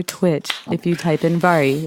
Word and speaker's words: Vahri: youtube mixer or twitch if you type in vari it's spelled VA h RI you can also find